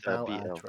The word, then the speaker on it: Balatro: It's Balatro.